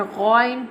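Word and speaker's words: غ: Now I'm telling the pronunciation of ghain, and ghain pronounced from the top part of throat.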